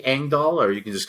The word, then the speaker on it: Engdahl: me uh on Amazon the last name is uh kind of weird it's Swedish so it's spelled in a way you probably wouldn't imagine it's e n g